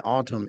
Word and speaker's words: autumn: autumn is also Adam the n in Autumn is silent so it's Autumn and